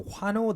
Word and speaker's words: 화노: And if you speed it up pronouncing it, it naturally turns into Hwano.